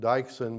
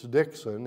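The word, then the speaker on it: Dyksen: and her name was i think i've pronounced it dycheson but it's dixon it's serena dixon it's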